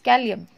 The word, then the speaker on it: Kalium: Try to pronounce by yourself, it is Kalium.